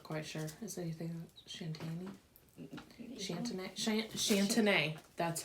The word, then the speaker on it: Chantenay: These ones are a red cord Shantani. I'm not quite sure. Is anything Shantani? Chantenay.